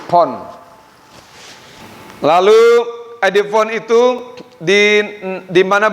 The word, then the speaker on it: phon: PHON, pon, bacanya pon, antara P dan V, pon.